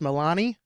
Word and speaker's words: Milani: a guess at your last name is it pronounced Milani correct hey all right well Don you you